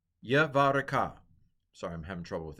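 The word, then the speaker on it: יְבָרֶכְךָ: Vayomaru lo Yavarek so Yavare see, this is a silent schwa. Yavareka. Yavareka.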